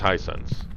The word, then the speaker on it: Hisense: glowstone glow sticks Tysons I think it's Hisense that's how you pronounce it they have some really